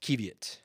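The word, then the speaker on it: qiviut: hold on hold on is this pronounced kievit or is it kev yet there it is kevit oh oh wait oh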